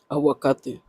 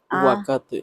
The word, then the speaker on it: aguacate: Aguacate. Avocado. Aguacate.